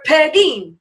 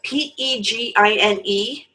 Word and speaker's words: Pegine: First off, if you read Pegine, people would start saying Pegine, Penguin, Paganini.